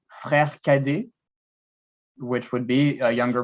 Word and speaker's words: cadet: Because I think it's a bit, Cadet. yeah. In French, we would not pronounce the T. The Uh, T would be mute, and you'd say cadet.